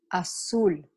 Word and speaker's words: azul: as pronounced in English but in Spanish your lips should be rounded when you say that you asul okay okay do I